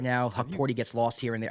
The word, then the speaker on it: Hukporti: I mean, you've been saying I don't want to pronounce his name for me. Hukporti. Hukporti.